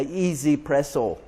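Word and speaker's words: 1Zpresso: This is called a Easy Presso. It's spelled 1Z Presso, and this one has 200 settings on it.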